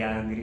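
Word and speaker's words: Ağrı: Kalau misalnya bahasa Turki sebenarnya agak susah, soalnya G pakai G musyak, I-nya yang nggak pakai tik dibacanya jadinya are.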